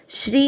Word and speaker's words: श्री: श्री श्री का अर्थ हुआ श आधा शंकर जी वाला और र पूरा, उस पर बड़ी ई की मात्रा श्री।